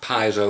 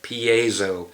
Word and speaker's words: piezo: did the graftec piezo it's not piezo or anything it's p like you get a p a like you're from canada then zou that's how you pronounce it piezo get your [ __